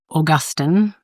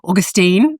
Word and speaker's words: Augustine: things was um uh pre- Augustine um that's how we say it in Australia. I don't how how do you say that August? Excellent. When you're from in America, I have to remember Augustine and um first Corinthians